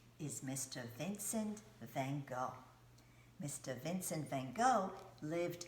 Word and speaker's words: Van Gogh: how they say it in the Dutch language in the Netherlands now in America we say mr. Vincent van Gogh just like to go somewhere van Gogh I'm going to read